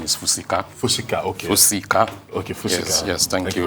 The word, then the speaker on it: Fusika: start with um the name is the correct pronunciation is fusika okay okay yes thank you for that let